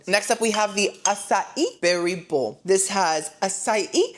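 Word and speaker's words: açaí: I've had Asai many a times and I know you're probably shocked that I'm pronouncing it correctly.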